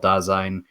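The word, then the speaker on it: Dasein: lexicon of philosophy was in german it's called dazzain it's still referred to as dazzan if you talk to him or not to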